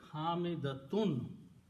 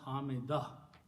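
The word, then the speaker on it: حامدة: So hamida is actually hamidatun. When we stop, we don't pronounce tun, we pronounce hamidah.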